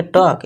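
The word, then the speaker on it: talk: इसे पढ़ेंगे टॉक। एल को भूल जाएंगे।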